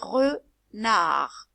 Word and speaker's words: renard: Alors celui-là, c'est le voleur de poules, renard. Ça s'écrit avec un D à la fin. C'est un D qui est muet. On va le lire renard.